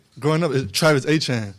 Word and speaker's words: Etienne: So, it is growing up it is Travis Etienne. So, it would be like A-C-H-A-N-E. Uh and that's how you always said Travis Etienne.